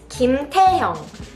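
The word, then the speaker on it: 김태형: Next is Kim Taehyung.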